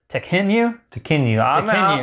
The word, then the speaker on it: Tekhenu: still don't know that I know how to pronounce it. Tekhenu.